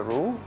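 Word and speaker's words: roux: now you take the room okay once this whole exactly yeah roo roo spell are 0 ux by u just pronounced as rude okay so that's a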